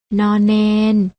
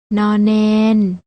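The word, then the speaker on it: ณ เณร: ไร ใช่ แล้ว ค่ะ พยัญชนะ 2 ตัว นี้ อ่าน ออก เสียง น พยัญชนะ ตัว แรก อ่าน ว่า น หนู พยัญชนะ ตัว ที่ 2 อ่าน ว่า น เณร ลอง อ่าน ออก เสียง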